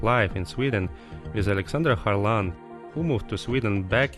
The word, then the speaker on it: Kharlan: Yeah, so my name is Oleksandra Kharlan, Kharlan, as they pronounce it in Sweden.